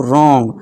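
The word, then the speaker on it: wrong: यदि आर से पहले और एस के बाद डब्ल्यू हो तो डब्ल्यू साइलेंट होता है। आर से पहले क्या है? डब्ल्यू है। तो यहां डब्ल्यू साइलेंट हो जाएगा।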